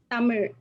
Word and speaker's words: Tamil: but it's pronounced as tamir it's a different letter which is uh exclusive to tamil so yeah so we